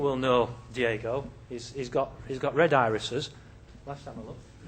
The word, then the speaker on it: RedIRIS: If you see that, just for those of you that know how to read Spanish, here what we have is never pronounce it red iris.